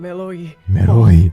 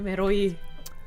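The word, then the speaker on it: メロい: like, "Oh my god, meroi, kakkoi, meroi." So you pronounce it like, was it more of like the sound, or is it more of an L sound, like meroi or meroi?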